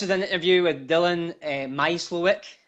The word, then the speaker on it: Mysliwiec: So this is an interview with Dillon Mysliwiec, pronounced correctly, a wee bit of practice.